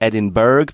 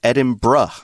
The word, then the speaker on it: Edinburgh: looks more like Berg and I've heard Americans pronounce it edinberg but it's edin BR is the pronunciation well I learned how to